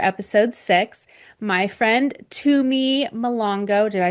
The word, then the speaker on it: Mhlongo: My friend Tumi Malongo Did I say your last name right? You tried, it's okay. Oh, how do you say it? Malongo.